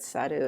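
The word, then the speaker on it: 去る: It's pronounced sa of saru, not saru as in monkey, but saru as in to leave, kyo or ko, and it means to leave or go away.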